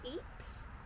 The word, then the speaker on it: Ypres: Then we're booked on a site in, is it Ypres? Pronounced perfectly.